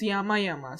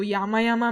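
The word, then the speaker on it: 山々: So Yama Yama means many mountains. So the same iteration mark could copy the same kanji character's pronunciation exactly the same, or the pronunciation could be modified a bit.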